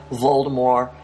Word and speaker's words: Voldemort: shape now like Lord Voldemort in the Harry Potter books and yes JK rling recently said the T at the end of his name is not pronounced you do not have